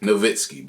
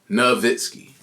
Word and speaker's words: Nowitzki: Now I started to make sense of why certain words are pronounced with a V. I'm thinking it's a W. So my bad, it's Dirk Nowitzki, bro. Nowitzki.